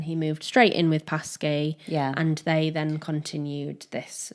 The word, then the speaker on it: Paskey: How are you pronouncing this? Paskey. Paskey, yeah. Paskey. Confirmed.